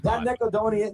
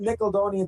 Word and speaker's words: Nickelodeon: That Nicodonian Nickelodeon thing I could not get into people all over the place. Okay, we get the point. Yes. So that that's him mispronouncing Nickelodeon and saying Nickeloonian.